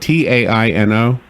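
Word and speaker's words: Taíno: my is this right ta Ino yes with an accent over the I so you know you can never really know but I think the way they would have pronounced it is Taino okay not to be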